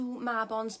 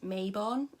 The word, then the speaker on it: Mabon: or the fact that his name is mispronounced as mabon a lot especially by Americans but I'm not you